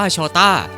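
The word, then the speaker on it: Jota: เป็น คำ ว่า โจเซ ใน ภาษา โปรตุเกส ตัว เจ ออก เสียง ว่า โชต้า และ นั่น คือ จุด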